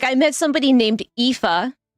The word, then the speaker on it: Aoife: How to pronounce. It's gotta be Irish. It's gotta be. Like, I met somebody named Aoife, right? It's A-O-I-F-E.